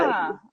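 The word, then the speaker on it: Gena: It's Jenna Rollins, Oh, is not it? Gina. Yeah. See, it wouldn't be a chat if I didn't pronounce the names wrong. It seems to be Jenna.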